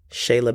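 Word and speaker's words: Cheyla: said she is just phenomenal at rapping it is spelled c h e y l a bands Shayla bands on Apple music or even YouTube as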